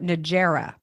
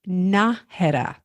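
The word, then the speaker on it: Nájera: starts with an N most people call it Nera oh yeah what is it it's pronounced naha so think about it you you know what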